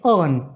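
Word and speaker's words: urn: अर्न नहीं कहेंगे, इसमें जो आर का प्रोनाउंसिएशन है वो एकदम ही नेग्लेजिबल है, तो आप इसको बोलेंगे अर्न।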